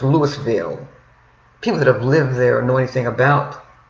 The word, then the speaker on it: Louisville: I used to live in Louisville, Kentucky myself. I've lived many places statewide because of the work that my dad did, who was a fighter, again, for civil rights. And we lived in Louisville, Kentucky.